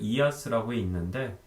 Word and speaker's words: IaaS: 사스, 파스, 이아스라고 읽는데 풀어서 얘기하면 소프트웨어 애저 서비스, SaaS, 그 다음에 플랫폼 애저 서비스, PaaS, 인프라스트럭처 애저 서비스, IaaS가 존재하고요.